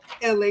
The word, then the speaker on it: Elay: what's up it's me la pronounced like ellie like the city i'm not from there